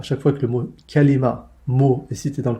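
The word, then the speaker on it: كلمة: Alors quelles sont les trois façons de prononcer le mot kalima en arabe? Amma lughatuha fa kalimatun, kalimatun, ala wazni nabiqatun, ala wazni nabiqatin.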